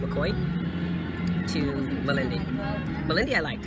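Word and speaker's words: Mokoye: island port of mccoy m-o-k-o-y-e but it's pronounced mccoy to malindi malindi i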